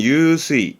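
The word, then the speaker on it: 湧水: 요게 용수, 발음은 유수이, 유수이.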